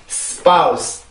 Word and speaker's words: spouse: 절대 spouse 아무리 빨리 해도 영어의 소리를 따라올 수가 없습니다. 우리나라는 성대가 4번을 울려야 되는 소리고, 영어는 한 번만 울리면 되는 소리란 말이에요.